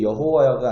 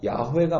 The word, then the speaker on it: 야훼: 그런데 모음이 이게 어떤 모음을 썼는지 기록이 안 돼 있었기 때문에 그것을 여호와라고 읽었다가 이제 학문이 발달하기 시작하면서 이게 여호와가 아니라 야훼가 맞는 발음이다. 이렇게.